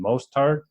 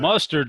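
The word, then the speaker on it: Mostert: up being out then is it mostart mostart how do you say chop what do you think what's the pronunciation there mustard sounds good mustard let's just make it easy I think it's most moard moard I believe is right but I like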